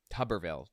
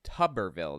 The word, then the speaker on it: Tuberville: Senator Tommy tuberville than tuberville tuberville that's how it's pronounced okay like bathtub tuberville anyway you know this